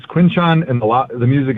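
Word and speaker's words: Quinshon: And I we were we had the lady who's in charge of pronunciation and Roger was right there and so she's like, "It's it's Quinchan."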